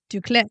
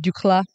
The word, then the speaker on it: d'Uccle: And I pronounce it D'Uccle. Yes, you do. But hey, it's okay. We all say it a little different.